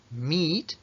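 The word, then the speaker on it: meet: mismo le pasa al verbo encontrarse con alguien mit una y larga Met Met una y larga que se escribe con las dos es una e que se pronunciae mit y también le va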